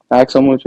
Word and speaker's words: Axel Muco: Axel Muco, am I saying it right? Axel Mucho, yes.